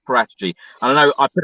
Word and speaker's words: Paratici: So every Italian person I've spoken to, they say Fabio Paratici.